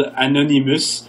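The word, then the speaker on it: Anonymus: there's a band called Anonymous, which is like anonymous, but they're a Francophone band, so we pronounce them that way.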